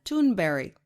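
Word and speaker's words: Thunberg: about climate change seventeen-year-old greta tunberry which is how they say her name in sweden why did some nba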